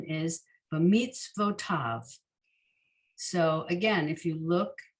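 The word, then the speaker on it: בְּמִצְוֺתָיו: Pronunciation is b'mitzvotav.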